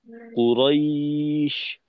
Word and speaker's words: قريش: আর কফটাকে যুক্ত রেখে কুরাইশ, কুরাইশ, কফ বলার পর কোনো স্পেস না রেখে র এর উচ্চারণটাকে যুক্ত করে দেওয়া, এভাবে আর কি।